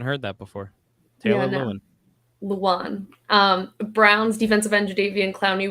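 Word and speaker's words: Lewan: Luan.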